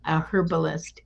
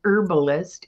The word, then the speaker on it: herbalist: Angela says she has been a herbalist, and I don't even know if I'm saying it right, an herbalist in a past life. I know some people pronounce the H, other people don't.